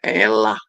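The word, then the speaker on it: אֵלָה: Pohon terbantin dalam bahasa Ibrani adalah Elah, Alef, Lamet, dan He. Elah, bacanya Elah.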